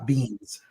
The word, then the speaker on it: Benes: Beans.